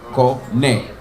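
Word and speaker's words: קונה: Kone, then we're gonna go with corny, like somebody trying to buy this corny joke. Kone. Alright?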